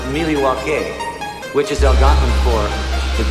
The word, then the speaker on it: Milwaukee: pronounced Milwaukee, which is Algonquin for the good land.